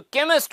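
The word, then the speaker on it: chemist: है वो है केमिस्ट अब मजे की बात यह है कि चारों ही वर्ड्स की स्पेलिंग जो है उसमें जो दो पहले अक्षर हैं जो इनिशियल लेटर्स है दो वो सेम है सी और एच स्पेलिंग चारों की सी और एच से स्टार्ट होती है लेकिन साउंड जो है व किसी वर्ड में च का आता है तो किसी में क का तो केमिस्ट में क का साउंड है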